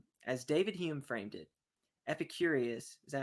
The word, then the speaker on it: Epicurus: So it says, as David Hume framed it, Epicurus, is that how you say it? Epicurus, yeah.